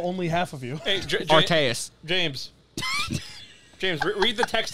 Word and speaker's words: Arceus: How do you pronounce the god of all Pokemon? Arceus.